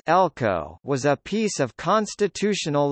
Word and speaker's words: LCO: In Wales, a legislative competence order (LCO), pronounced Elco, was a piece of constitutional legislation in the form of an order in council.